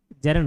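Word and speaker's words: gerund: फिर जेरंड क्या होता है, बचपन में इसको गैरंड प्रोनाउंस करता था, बाद में मालूम चला जेरंड होता है।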